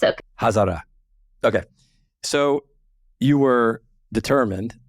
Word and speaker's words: Hazara: Hazara. But it's okay. Hazara.